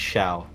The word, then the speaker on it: Xiao: one led by director xiao of all people too couldn't capture it this can't be an average urban nightmare i believe it's pronounced shao has it been has